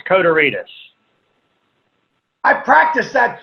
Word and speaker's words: Kotarides: Am I pronouncing that right, George? It's Kotarides.